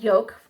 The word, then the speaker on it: Joke: And my good friend Yoke, I will link her Instagram below. Her name is Yoke, and it's spelled Joke.